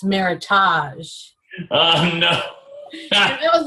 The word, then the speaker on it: Meritage: And so I picked out a Meritage, and I said, when you order it, make sure you say Meritage, rhymes with heritage, because I had Mr.